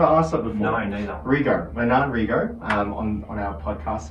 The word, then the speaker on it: Rego: How do I pronounce his surname? Rego. Rego. I've actually never asked that before. No, neither. Rego.